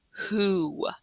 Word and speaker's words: who: we learned to make who. So it's kind of like a silent W, because you're really just pronouncing the H and a oo sound, who.